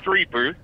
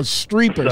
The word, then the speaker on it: Streeper: It's pronounced Streeper. It ain't a big deal. Oh, Streeper.